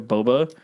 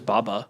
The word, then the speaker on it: boba: I thought it was Baba no it's and that's the thing too like the real how do you pronounce it yeah it's just Boba it's just Boba just b